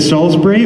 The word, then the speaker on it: Salisbury: have the english pronunciation is it salisbury or am i just saying it wrong it is right oh thank goodness for